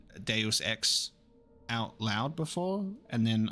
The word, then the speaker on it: Deus Ex: being assassinated today when will I play the juice X Series I'll say I should read I should say it correctly Deus Ex series um it was actually in the poll